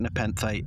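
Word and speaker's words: Nepenthe: They pronounced the planet Nepenth in the episode.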